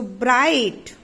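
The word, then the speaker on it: bright: Okay, so ब्राइट, there is GH silent.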